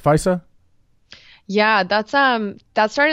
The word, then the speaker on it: FISA: a FISA the tank you pronounce it right FISA yeah that's um that's